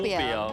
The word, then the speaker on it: 爿: 这个字其实它是台语发音，叫做台湾文武饼。